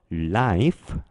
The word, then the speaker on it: life: 자, 항상 강조를 하지만 단어 끝에 있는 E는 발음하지 않는 거예요. F만 발음해 주시면 되는 거죠.